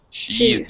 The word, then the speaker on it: she's: Teresa, make sure you're pronouncing the z. She's not. Yeah. Cheese. All right. It's the contracted or abbreviated form of she is.